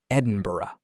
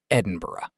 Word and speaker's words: Edinburgh: I am from Edinburgh, Scotland. E D I N B U R G H. Many people pronounce it Edinburg, but we say Edinburgh.